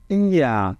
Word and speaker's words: Ihr: Esse IA eu coloquei aqui para vocês, olha como a gente pronuncia. A gente diz IA, tá?